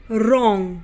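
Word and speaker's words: wrong: रहता है जैसे रोंग व आर ओ एन जी रोंग अब रोंग की स्पेलिंग व से शुरू होती है लेकिन हम क्या बोलते हैं रोंग बोलते हैं तो इसमें व क्या है साइलेंट है यानी की हम व को नहीं बोलेंगे उसी तरीके से रैप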